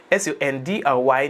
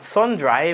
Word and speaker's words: sundry: l a n d s u n d r y not sund dry but sundry is a common English phrase that means everyone one and all and each person without any exception.